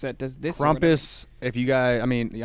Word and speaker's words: Krampus: Is it Krampus or Krampus? It's Krampus. I don't know about that one.